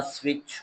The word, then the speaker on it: switch: Turn the switch on. Switch on कर दें, लेकिन इन switch T is silent, spelled in a word but not pronounced.